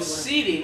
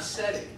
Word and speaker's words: setae: It's called setae, not setting. I've always called it setting.